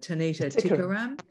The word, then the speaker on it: Tanita: to work with a um a singer called tanita uh tanita is that how you pronounce it that's right yeah that's right and